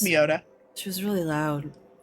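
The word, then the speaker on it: Mioda: Sometimes I do, but then I confuse myself if it's me or my Yeah, it's Miota.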